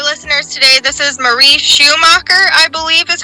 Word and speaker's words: Schumacher: For our listeners today, this is Marie Schumacher, I believe is how you pronounce it.